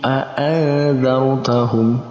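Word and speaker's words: أَأَنذَرْتَهُمْ: Dia masuk dalam kategori ikhfa maka kita bacanya dengan mendengungkan, dengan menggabungkan dan kita tambahkan huruf eng di tengahnya.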